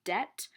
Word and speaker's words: debt: The word you wanted last week was debt with a silent B.